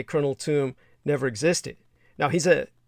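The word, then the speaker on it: Tomb: And for those of you who don't know, you can look up Colonel Toom. The name is spelled like the grave edifice, T-O-M-B. T-O-M-B.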